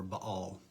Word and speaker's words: Baal: pretty easily see is just another spelling of baal or ba all depending on how you pronounce that um but nebo